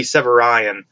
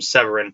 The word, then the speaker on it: Severian: The way his name is pronounced is not the way I put it in my head, I believe. His name may be Severian. In my head, I called him Severin because I delete I's out of names when I read, I guess.